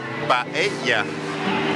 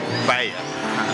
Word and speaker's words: paella: Yeah, it's paella. It's like paella.